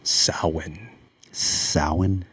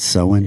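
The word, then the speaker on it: Samhain: we should start with sa sa that's how you pronounce it in Gaelic oh Irish gelic and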